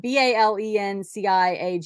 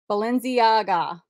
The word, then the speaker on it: Balenciaga: okay these vintage oversized women's uh sunglasses Felicia b-a-l-e-n-c-i-a-g-a I don't know what that I don't even